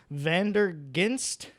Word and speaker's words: Vanderghinste: Yeah, well, this one is another Flanders sour that's hard to pronounce. It's Vanderghinste.